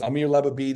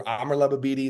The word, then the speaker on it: Amar Lababidi: top 35 under 35 this is Amir leab or Amar lababidi is how you say in Arabic and he you know